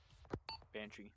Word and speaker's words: Banshee: you say your name banshee like the irish you know i'm just